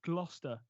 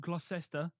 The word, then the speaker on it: Gloucester: it's Lester Lester and the other one is Gloucester not Gloucester for whatever reason the amount of touristic excuse me whereas Gloucester Shire square and he was like that doesn't